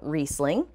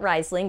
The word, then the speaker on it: Riesling: and here you go riesling and it's not rising but don't worry the